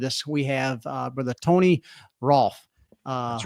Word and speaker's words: Rolfe: We have Brother Tony Rolfe. That's right. He gave me a heads up. He said, pronounce it like golf.